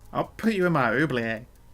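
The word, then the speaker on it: oubliette: put you in my oublie a it's not a silent T you you know that right the T don't be silent that sounds cool yeah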